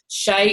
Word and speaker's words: Hsieh: is delivering happiness and that's by Tony Shea Shea is spelt t sv I H I believe um